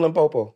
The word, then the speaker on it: Limpopo: In Limpopo? Yeah. Limpopo. Are you from Limpopo?